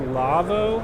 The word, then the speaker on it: Lavo: I'm with, I believe it's pronounced Lavo, I want to say. That's correct.